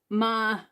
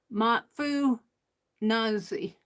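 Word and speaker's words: Machunazhe: Machunazi. Machunazi. Pronounced Matfu Nazi or something like that, was a Ponca chief and a Native American civil rights leader who successfully argued in the U.S.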